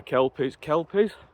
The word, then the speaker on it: Kelpies: I'm just walking back now to the Kelpies, that's how you pronounce it, with drone.